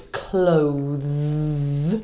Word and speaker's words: clothes: So if there's an e on the end, it's clothes with a voiced. If there's not an e, we say cloth with an unvoiced th.